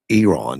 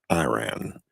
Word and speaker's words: Iran: Well, he lets me know it's pronounced Iran, not Iran.